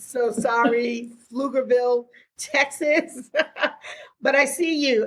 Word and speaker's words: Pflugerville: No, I think she means Pflugerville. Pflugerville. I butchered it.